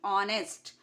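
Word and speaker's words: honest: से स्टार्ट नहीं है हालांकि इसका first letter consonant but आईटी इस साइलेंट तो इसमें भी एक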